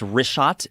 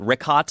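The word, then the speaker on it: Richat: In the first couple I just want to say it's rishot. I used to call it Rickot. I was mispronouncing it.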